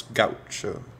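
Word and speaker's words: gaúcho: We talked of country life, of the capangas, of the Brazilian etymology of the word gaucho, which some old Uruguayans still pronounce gaucho.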